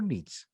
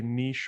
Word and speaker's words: niche: looked it up, and in the dictionary you can actually pronounce it both ways. There's no Okay. right or wrong way, so you can Okay. say niche or niche, whichever one you want.